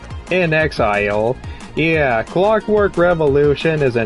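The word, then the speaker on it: inXile: by uh uh in in Exile is how you pronounce their their name or their studio in Exile yeah Clockwork Revolution is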